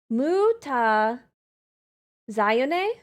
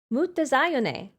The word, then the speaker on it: Mutazione: It's basically Italian. Ma zion. Ma zion. Really? Mut zone.